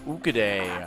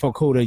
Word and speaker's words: Okudah: And Jeff Okudah, I'm not sure how you pronounce his name. I'm sure I completely flubbed Jeff it. Okudah. That's Okudah.